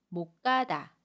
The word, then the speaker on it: 못 가다: 옷과 첫소리 기억이 만납니다 그러면 뭐 까다 라고 발음 에어 받침 시 옷은 아침 수리 이글스 로 발음하고 요 철 소리 기억은 까 로 된 조리로 받음 해요 그래서 못 가다 뭐 까다 라고 받음 합니다 단어 하나 더 볼게요